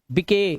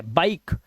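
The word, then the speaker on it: bike: अब इसे गिवे नहीं पढ़ने, गिवे, गिव, मके नहीं, मेक, बिके गलत है, बाइक।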